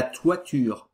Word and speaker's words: toiture: E existe outro termo, mas que usa esse T, e aí esse T tem de ser pronunciado, que é la toiture, mas que...